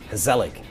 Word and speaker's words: gezellig: It's Gezellig.